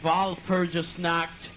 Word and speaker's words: Walpurgisnacht: By the way, if you can't pronounce our name is Walpurgisnacht, which means the night of all darkness.